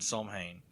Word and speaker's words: Samhain: Yeah, the thing I said, it had to pronounce and didn't have the M, so I don't know if they forgot to put in the M. Cause, I mean, there's an M in there, so I would imagine that it would have, an M in the word.